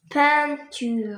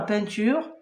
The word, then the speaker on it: peinture: Nous avons le 1 qui s'écrit avec e I n. Dans le texte nous avons ceinture, nous avons peint. Je t'ai donné d'autres mots avec le 1, c'est pain e comme pain.